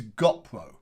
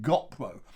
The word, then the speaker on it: GoPro: this company which is gopro all right gopro now some people you may have heard giving it different pronunciations but they're just people who don't know anything about youtubers and they don't know anything about how to make a film on a bike because they use the wrong pronunciation so everything else is